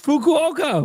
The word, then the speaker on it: Fukuoka: It's Fukuoka.